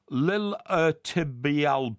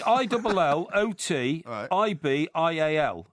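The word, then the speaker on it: iliotibial: It's a common problem with runners affecting the liilibial band. Lilotibil.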